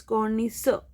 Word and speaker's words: connoisseur: We will not pronounce the R. Okay, it's connoisseur.